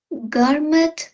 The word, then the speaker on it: gourmet: There's not only McDonald's now, but new gourmet burger restaurants like Five Guys.